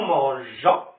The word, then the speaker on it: mangeons: C'est bon, j'ai devant O se prononce go. Donc nous mangeons. Alors c'est pour cela je dois ajouter E pour prononcer J.